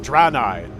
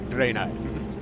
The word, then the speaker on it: Draenei: Draenei. A-E, that'd be Drain. Draenei.